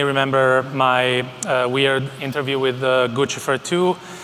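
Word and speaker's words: Guccifer: years you may remember my weird interview with Gucci fur - by the way it's pronounced Gucci for - I know it's controversial but let's set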